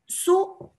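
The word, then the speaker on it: सुप्रभातम्: If you listen to the pronunciation, it is Suprabhatam. Now we don't say Suprabhatam. We say Suprabhatam. There is an extra stress which you hear before the P.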